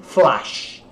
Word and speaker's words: flash: Então flash, mas entre o A e o E.